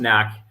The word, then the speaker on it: KnaQ: It's pronounced KnaQ, KNAQ.